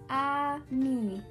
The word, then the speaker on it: ami: say friend in french the word is amin my mom says you say it like this ah me i love french everything